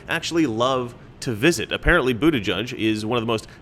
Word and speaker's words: Buttigieg: and it's totally not gay in all seriousness Buddha judge as BS is that pronunciation sounds is apparently a Maltese name from